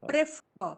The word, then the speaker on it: prefer: Prefer. Sorry, no. Prefer. See, Prefer. don't stress the first syllable here.